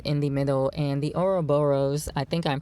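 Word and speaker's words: ouroboros: star of David in the middle and the oroboros I think I'm pronouncing it right which is basically the serpent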